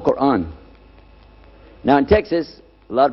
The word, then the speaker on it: Quran: is when you introduce the Quran it's called Quran now in Texas a lot of people mispronounce it they call it Koran but it's Quan but regardless of what you